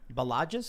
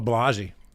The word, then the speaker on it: Balaji: So we have this from on Twitter from Balagis. Is that how you pronounce his name? Oh, Balaji.